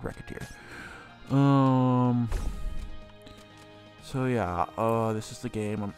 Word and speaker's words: Recettear: Apparently, well, I used to not anyway, and I used to just assume it was pronounced differently. It's called Recettear.